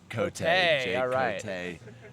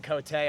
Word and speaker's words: Cot: How do you say your last name? Cot. I thought I was gonna butcher it by saying Cotay.